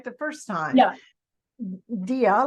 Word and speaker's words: Dea: Dea, like an idea.